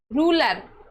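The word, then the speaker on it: ruler: जैसे रूलर आर है। आर के बाद में यू है।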